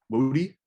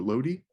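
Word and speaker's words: lody: There's one thing in particular that I think is important, and that is, I believe the pronunciation is Lodi or Lodi, and that is Polish ice cream.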